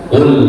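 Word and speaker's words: قل: Qul auzubirabbil falaq pakai qof qul katakanlah ya. Karena kalau kita membacanya pakai huruf kafl artinya makan. Ya, jadi walaupun agak miring tapi kalau kemudian itu berbeda dalam pengucapan bisa merubah arti.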